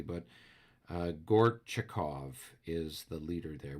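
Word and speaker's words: Gorchakov: it correctly but uh gort chikov is the leader there we've been calling him gorbachev but it's gortchikov um is the leader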